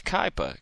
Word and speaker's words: Kaipa: Brother Rich in the chat room says it's Kaipa. Kaipa? Okay, K-A-I-P-A.